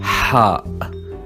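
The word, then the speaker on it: ح: It's like an H, but the sound comes from the deep part of your throat, just like you're trying to blow warm air on your hands when you are cold.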